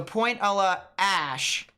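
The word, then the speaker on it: Pointe à la Hache: It's pronounced ash instead of hatch. Ash. So Point a la Ash.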